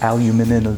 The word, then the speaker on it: aluminium: Honey, it's pronounced aluminium. Aluminium, because that's what it's called.